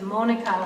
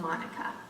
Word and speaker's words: Monica: So that's why my name is Monica with a long O instead of Monica.